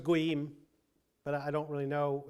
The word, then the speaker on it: goyim: Yeah, it's kind of that's a Yiddish pronunciation of the goyim.